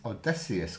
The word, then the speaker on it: Odysseus: And on the draw, your Odysseus card, that's how you say it, wherever it is, costs minus 1 permanently.